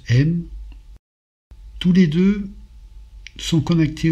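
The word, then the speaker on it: אם: Le père se prononce Av, la mère se prononce M.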